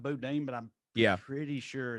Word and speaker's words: boudin: Do you say boudin or boudin? I say boudin. Boudin. I'm pretty sure. I know it looks like boudin, but I'm pretty sure it's pronounced.